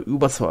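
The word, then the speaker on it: Über: servers by the way the correct way to pronounce Uber charge would be Uber charge as a German I can testify to that it is written in the game with the letter U and not U but seeing that the Uber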